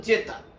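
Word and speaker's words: zeta: জেতা, এটার উচ্চারণ হলো জেতা।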